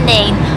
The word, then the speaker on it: Nene: Anyway, then you're on the Nene, or the Nen, depending how you say it.